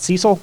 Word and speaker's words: CECL: the new lease standard we'll also talk about cecil yes that's how we pronounce it cecl um so that's current expected